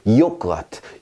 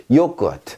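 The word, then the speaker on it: Joghurt: 요크아트, 요크아트. 자 여기서도 모음 뒤에 묵음해서 트 소리가 납니다.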